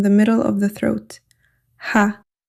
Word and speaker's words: ح: Similar to the English ha in house. Air flows gently from the throat. There is no tongue contact. There is no lip contact. Ha is a light letter. Pronounce it softly and lightly. Place your hand on your throat and feel the air coming out gently.